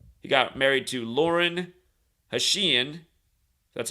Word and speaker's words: Hashian: He got married to Lauren Hashian.